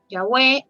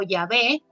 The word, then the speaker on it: Yahweh: Y también ahora vamos a ver en la siguiente diapositiva que ya no se sabe exactamente cómo se pronunciaba y probablemente era Yahweh o Yahvé, pero pues como mencioné